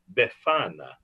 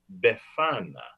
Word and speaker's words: Befana: but kind old witch is known as the befana the giver of gifts befana there will be a quiz make sure you